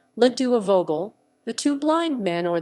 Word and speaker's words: Les deux aveugles: less dukes of ugl's french pronunciation ledua vogel the two blind men